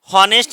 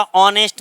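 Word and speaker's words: honest: हॉनेस्ट नहीं होता, ऑनेस्ट मैन, ऑनेस्ट मैन, ठीक है, ऑनेस्ट, आ।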